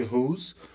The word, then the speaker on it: whose: Mais um pronome relativo aqui, whose. Whose, pronúncia de vibra, né? Vibra aqui as cordas vocais. Whose, com som de Z, indica posse.